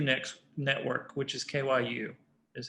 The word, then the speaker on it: kyu: part of the q next network which is kyu is how you pronounce it which is ideo you've heard an